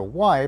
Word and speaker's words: y: know that the letter Y pronounced like the English double e means and and L